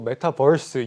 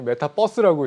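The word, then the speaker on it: metaverse: 이 메타버스가 영어로 메타버스, 유니버스라서 메타버스인데 네. 아재분들이 많이 메타버스라고 읽더라고요. 버스가 아닌데. 아, 제가 아재인가요? 메타버스 아니고 메타버스입니다.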